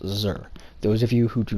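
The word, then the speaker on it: Xûr: of my name is xu pronounced sir those of you who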